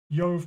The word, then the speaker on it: Jove: jove yo the father the j is pronounced like a y in latin so yov parter or yov the